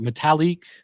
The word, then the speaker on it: Metalik: Metalik.